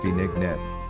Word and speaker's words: binignit: Binignit, pronounced bee-nig-nit, is a rich, creamy, and satisfying Filipino dessert soup.